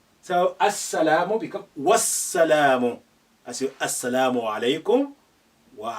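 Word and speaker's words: والسلام: You say wassalamu, not wa as-salamu. Now the alif is silent because it's not at the beginning. There is a letter before it. The lam is silent because we have the sun letter after it, which is carrying shadda, and the shadda has an embedded sukun within it. So they're both silent for different reasons.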